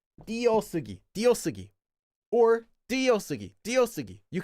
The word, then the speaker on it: 띄어쓰기: But, um many diphthongs, in fact, most of the time actually get pronounced simplified as only one syllable.